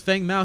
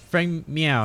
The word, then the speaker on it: Feng Mao: But I really need to see this Feng Mao. He needs to be utilized better. Like, I don't have a problem with him necessarily coming in from the backside. You're saying it wrong. It's meow. Feng Meow, I'm sorry.